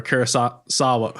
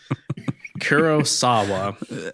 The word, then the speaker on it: Kurosawa: Jacob asked Galain ended up how Gain ended up looking like a oneeyed character from a Kurasawa. Oh my god. Kurosawa.